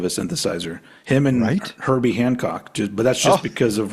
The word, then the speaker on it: Hancock: Um Handcock. Hand. It's not Handcock. It is. No, there's no D. There's no D in there. It's not. It's a Hancock.